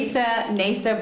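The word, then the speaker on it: Neysa: Nasa Borkert, NASA, N-A-S-A? N-E-Y-S-A. N-E-Y-S-A. Like neigh, like a horse.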